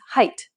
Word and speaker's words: height: is pronounced ate but adding an h doesn't give you hate instead it becomes height spanish on the other